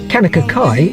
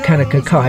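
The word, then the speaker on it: Kaunakakai: cross I've mayor of Kanaka Kai was written in 1935 and the only reason cockeyed was put into the title was because it rhymes with Kanaka Kai we were lucky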